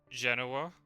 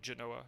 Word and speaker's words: Genoa: If I can get Gadami and Mina to Genoa, if that's how you pronounce it, right? Yeah, not Genoa, Genoa.